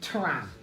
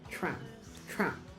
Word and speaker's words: tram: You can hear I'm not saying tram. I'm not saying tram. I'm not saying tram. I'm not saying tram. I'm saying tram. Right? Again, affricate means these are pronounced simultaneously.